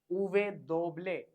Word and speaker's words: uve doble: The pronunciation of V is uve. For example, ventilador. Ventilador means fan, ceiling fan. Uve doble.